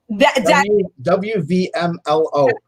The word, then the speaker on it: WVMLO: WMLO, right? That's how you say it? You missed the V. WVMLO.